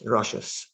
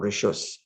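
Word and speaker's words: רשות: Reish, Shin, Vav, Saf. It's rashos or rishos.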